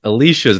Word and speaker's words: Alicia: Yeah, it's a little cheap because Alicia's not one that you think of off the bat. I think it's like Allison and Alexandra, Sure. right? Those are the main two. And it's Alicia, 3 syllables, and Alicia Silverstone back